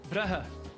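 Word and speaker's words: Brugge: Et à la flamande, Bruges, ça se dit comment? Brahe, Donc vous dites...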